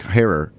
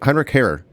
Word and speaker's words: Heinrich Harrer: They say Heinrich Harrer. How do you say it? An Austrian mountaineer. Harrer. It's probably horror.